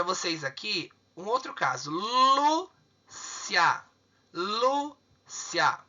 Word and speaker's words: Lúcia: Qual que é o mais forte? É o Lu.